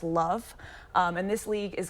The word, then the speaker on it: LOVB: a little bit different it's lovb pronounced love um and this league